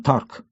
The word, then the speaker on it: д'Арк: Французы — этнос, но говорят на 4 языках — французском, провансальском, бретонском и гасконском, а спасительница Франции Жанна д'Арк произносила свою фамилию с немецким акцентом «Тарк».